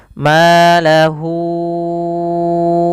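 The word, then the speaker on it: مَالَهُۥ: Maka cara membacanya hunya dipanjangkan dulu empat harakat baru dilepas. Maahu akhladah. Kesalahan yang terjadi tidak memanjangkannya empat harakat.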